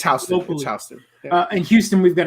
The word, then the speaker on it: Houston Street: i'd say everything wrong y'all call houston street houston it's houston it's not houston it has no relation to the city actually pretty it's spelled the exact same way yes i know but